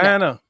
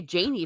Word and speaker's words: Jana: Rhymes with banana. Jana. Jana. Like Jana. Okay. Oh my gosh, I've been calling you Janie forever.